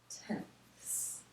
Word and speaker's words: tenths: one tenth and so this place value spot is called tenths we have to really pronounce that th s it's ten times less